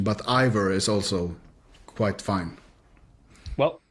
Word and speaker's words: Iver: So if it either you say, I would say Iver in Norwegian, but Iver is also quite fine.